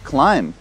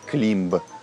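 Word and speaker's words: climb: вам банк следующее слово клайм взбираться карабкаться flymo последние by в этом слове тоже не произносится флаем например взбираться по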